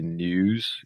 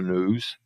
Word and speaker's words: news: News seria uma pronúncia britânica, fazendo o som do I aqui, news, e aqui a pronúncia americana, news.